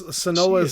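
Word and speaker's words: Senua: called SAS or sonoa I forget how I pronounced her name the two words oh hell blade it's sonoa Saga oh oh so it's not hellblade well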